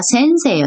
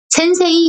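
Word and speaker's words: せんせい: 예외적인 게 에단 뒤에 에 발음 나는 글자 에단, 에케, 세, 테, 네 이 글자 뒤에 이가 오면 장음으로 읽는다는 거죠. 같은 모음이 아닌데 그래서 예를 나온 게 대표적인 예가 센세예요. 센세. 센세라고 읽을 때 세에다가 에를 붙이는 게 아니고요. 센세이예요. 이를 붙이는데 발음은 센세이 안 하고 센세 이렇게 발음을 합니다.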